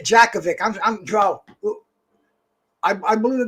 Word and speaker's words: Jakovic: javik bro he he's he's got this j jacovic i'm joe i believe the name no you